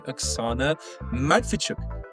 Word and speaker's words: Oksana Matviichuk: Today we're joined by Axana Madfichuk. Um Axana, if I pronounced that correctly.